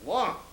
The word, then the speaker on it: Laon: I said, no, L-A-O-N. Oh, they said, that's pronounced Lyon.